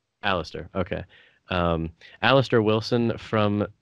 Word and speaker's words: Alastair: uh your name is is it alistair or alister how do you pronounce it alistair okay um aleister wilson